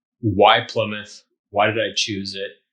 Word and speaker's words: Plymouth: looks like you're saying looks like if you just look at the word it's it looks like ply mouth that's not correct you pronounce it Plymouth play myth Plymouth so Plymouth Massachusetts the